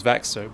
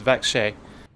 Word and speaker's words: Växjö: The bus drivers just told me how to pronounce the name of what I thought was Vaxo, but it's Vaksh.